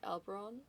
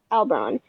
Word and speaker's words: Albron: um how you uhon how do you say his name uh I say it like albron albron uh glancing back at